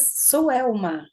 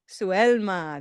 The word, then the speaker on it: Suelma: How do you say your name? my name is Suelma. Suelma. There we go.